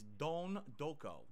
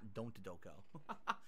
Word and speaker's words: Don Doko: No, I'm not saying Don't Go Island. It's Don Doko. D-O-N, Don, and then Doko, D-O-K-O. I thought it was Don Doko. It's not. It's Don Doko. That's how they pronounce it in the game, so I'm pronouncing it correctly. Not Don't Doko. Or Don't Go.